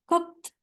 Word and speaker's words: cooked: ini heeh Nah betul Tapi bacanya bukan cooked nah gimana cara bacanya ini seperti That's correct betul seperti ada t di ujung cooked Gitu ya cooked He eh Nah ini